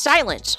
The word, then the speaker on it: Sylnse: He created an alias called Sinlise, pronounced silent. Oh, it looks like Sinleisure, but pronounced silence. So silence, but it's spelled Sylnse, and started making beats for his friends.